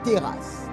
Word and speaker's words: teras: Un prodige vient du mot grec teras. Teras. Teras s'écrit T-E-R-A-S.